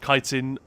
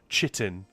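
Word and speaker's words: chitin: And yes, kitin apparently is the way to pronounce that word. Chittin is is completely wrong.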